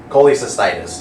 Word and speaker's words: cholecystitis: Did anyone pronounce that? Cholecystitis. Close. Cholecystitis, yep.